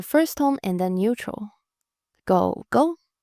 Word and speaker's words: 狗狗: Go Go, Go Go. Third tone and then neutral.